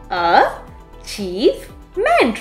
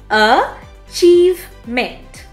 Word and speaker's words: achievement: emphasis than the others in this case it is the second syllable so here is how we pronounce the word achievement a chief meant the second syllable is